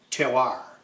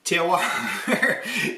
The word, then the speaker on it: terroir: Terroir is a French word for which there is no English equivalent. The French say terroir. I'm from Chicago. I say terroir.